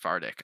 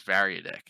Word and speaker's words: variadic: muscle fartic macro okay i actually don't think it's pronounced vardik i like to pronounce it vardik but i think it's variadic i i like how